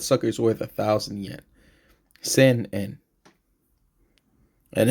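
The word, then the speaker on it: 千円: And at least when you write it, you put the N sound in the middle for sen. Sometimes when they pronounce it, it sounds kind of just like say by itself, but you do want that N in there.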